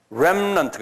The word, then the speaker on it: remnant: remnant. 이게 한번 해보세요. 이 R이기 때문에 램이라고 부르지 않고 remnant. 우렘 해보세요. remnant 그래. remnant. 그러니까 우 발음을 하지 마시면서 속으로 우를 집어넣고 remnant.